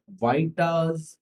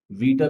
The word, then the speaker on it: Vieta: तो बच्चों इस फॉर्मूले का नाम है वाइटास फॉर्मूला, और कुछ लोग इसको वीटा भी कह देते हैं, लेकिन उसकी जो रियल प्रोनाउंसिएशन होगी वो होगी वाइटा।